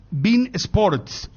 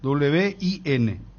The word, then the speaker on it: Win Sports: convoque eh Gracias Tomás me está enviando Bin Bin Sports estoy pronunciando bien verdad porque es w w i n bein Bin win win Wi win win wip